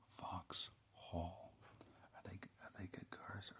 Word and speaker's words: Vauxhall: Vauxhall. No, I'm saying it wrong. Vauxhall.